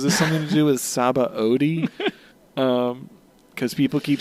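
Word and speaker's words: Sabaody: really surprised to learn that that word is pronounced sabba ODI oh I was pronouncing it Sai we're going to go to hog backs zabou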